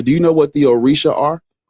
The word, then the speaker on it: orisha: And the pron the correct pronunciation is orisha. Oricisha. You said that is no. You said orisha.